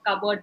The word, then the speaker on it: cupboard: pronounced as well like for example I've given for cupboard that p is silent that is something which